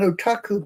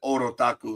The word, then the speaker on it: otaku: Otaku. Oh, I just said Orotaku in my Oh my god, I knew I got it wrong.